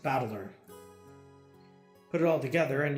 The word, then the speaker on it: Battler: This is made up of the characters for fight and person and it's pronounced battler.